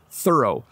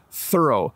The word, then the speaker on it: thorough: do a thorough job let me say that a few more times so you can hear how it sounds thorough thorough when I say thorough my tongue is between my teeth thorough when you are